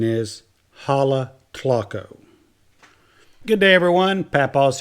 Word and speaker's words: Jalatlaco: here we are in Halle click Oh think I'm pronouncing that right it could be a lot